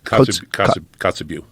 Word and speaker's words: Kotzebue: Kotzebue.